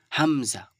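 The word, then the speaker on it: ه: হল হামজা আর এটা কি হা একদম ঠান্ডা একদম নরমাল কোন ভারি নেই কোন গোল মতলব বেশি মাখরাজ একদম টেনে বের করা কোন বিষয় নেই এখানে বুঝতে পেরেছেন তাহলে হামজা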